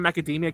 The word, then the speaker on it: macadamia: oh i love macaroni it's actually one of the few times i said macadamia correctly i always like add too many syllables thank you are you